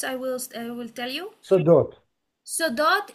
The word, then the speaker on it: סודות: Ehamri so dot Sodot, it's sudot secret. so Secrets. dot Nachon. yeah the pronunciation I wanted to hear it Sodot.